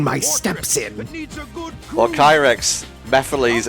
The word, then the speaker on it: Mephiles: steps in well krex Mephiles is pronounced like that he mispronounced it he he it was such a mispronunciation that everyone came out and was like why are you calling him that I am pitting the